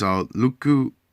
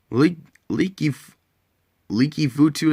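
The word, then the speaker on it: Leki Fotu: We get I don't know how you see this. Litifuku. That's how I can't start it. Leaky Futu is how you say it.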